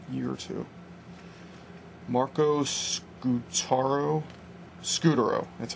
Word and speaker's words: Scutaro: Scutaro, that's how you pronounce it.